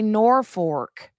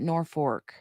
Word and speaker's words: Norfolk: some of them say Norfork like with an R like the L is an R I'm like what in